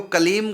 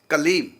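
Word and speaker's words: क्लीम्: देखो, कलीम का उच्चारण कलीम, बस कलीम, लास्ट में माँ हलंत, मतलब होठ बंद ही रहे, खोले ना, कलीम। और यदि हम बोल दिया कलीम, ये अशुद्ध हो गया, क्योंकि हमने होठ खोल दिए।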